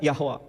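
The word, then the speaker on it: יהוה: Sementara bahasa Ibrani, pronunciation-nya Yod, He, Vav, He, Yehovah. Yehovah, kadang Yahwa.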